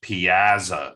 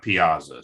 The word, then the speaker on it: piazza: is is that this this is pronounced piazza not piazza so sorry if i'm